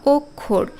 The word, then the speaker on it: অক্ষর: হচ্ছে তাই না কিন্তু শব্দের মাঝখানে যখন এটা বসে যেমন শিক্ষা বা অক্ষর এখানে কেমন উচ্চারণ হচ্ছে আগে ক এর উচ্চারণ হচ্ছে তারপরে খ আসছে অক্ষর শিক্ষা বা পরীক্ষা